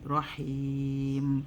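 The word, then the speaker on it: رحيم: So rahim, and don't forget to bring the air out. This letter ha. If you don't say with the air, you're not saying it correctly. It comes from the middle part of the throat.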